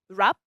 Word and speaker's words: wrap: And also in the verb wrap. And of course, we don't have just consonants as silent letters.